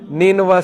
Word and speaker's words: نینوا: تو ادس نے کہا کہ میں نینوا سے ہوں۔ نینوا اس کا تلفظ ہے NINEVEH۔ نینوا جو ہے یہ عراق